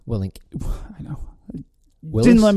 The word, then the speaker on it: Willink: Jocko Williams. Willink.